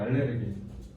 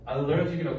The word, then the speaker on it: allergic: 얘네 알레르기가 잘못된 일본식 발음이야. 알레르기. 그치? allergic이라고.